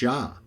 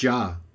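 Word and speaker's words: Jah: all this argument and how to pronounce his name just go with ja nobody really questions it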